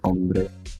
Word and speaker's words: hombre: H is silent in Spanish. Oh, okay. It's hombre.